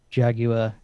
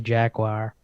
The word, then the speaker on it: Jaguar: So there was this, a Jaguar E-Type, or as you Americans say, Jaguar, and an old Ford.